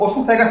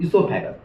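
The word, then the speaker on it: oesophagus: ओसोफेगस नहीं पढ़िएगा, ओ silent, इसोफेगस।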